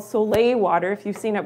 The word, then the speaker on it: soleil: Okay, Tammy, Jerry, yes, soleil water. So this is, and it's S-O-L-E, but you pronounce it soleil, like the sun, I guess, okay?